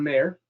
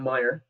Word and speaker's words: Meyer: we'll first hear from mayer sorry i beg your pardon meyer i said your name wrong meyer is a